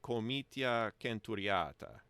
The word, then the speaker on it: comitia centuriata: And according to that system, it would be comitia centuriata, where the C's are always a K sound, always a hard C, a K sound. And you have very pure, the 5 pure vowels, like in Italian. There are long and short vowels, like centuriata. I'm pretty sure that's a long A, long A sound.